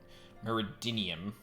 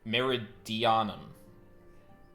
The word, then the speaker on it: Meridianum: __ ] uh mer meridium no I pronounced that wrong meridianum meridium whatever I'm certain